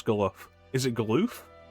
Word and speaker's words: Galuf: Is it Galoof? Galuf? Is that Galifianakis? Got the beard for it. Galoof like aloof.